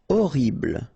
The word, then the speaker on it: horrible: Horrible. Okay, first letter is H, but then we don't pronounce H, so you don't pronounce it, and the first thing you hear is O, horrible.